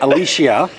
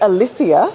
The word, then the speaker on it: Alicia: So now I have this huge I'm self-conscious about every time not saying somebody's name wrong. Test. What is it? Alicia. It's Alicia.